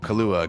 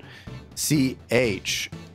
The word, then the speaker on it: Cholula: Kahlua, good name. I like your Tabasco. It was a good thought. C-H-O-L-U-L-A. Kahlua. Kahlua. Kahlua. Cho-lu-la. Cho-lu-la. That's how you spell that, right?